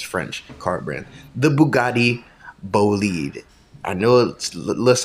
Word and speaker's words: Bolide: The Bugatti Bolide. I know it looks like it's spelled Bolide, but it's pronounced Bolide.